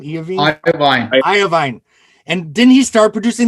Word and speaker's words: Iovine: How do you pronounce his name? Iovine.